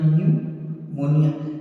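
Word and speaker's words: pneumonia: इतना तो सही है, निमोनिया होना चाहिए, न्यूमोनिया, लेकिन इसमें पी जो है साइलेंट जो है पी इसमें लगा हुआ है।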